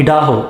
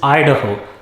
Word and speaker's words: Idaho: be in ohio next it is not idaho it is idaho idaho is known for